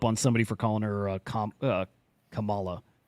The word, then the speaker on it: Kamala: Is it Kamala or Kamala? Kamala.